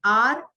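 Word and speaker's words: hour: एंड आर, H silent.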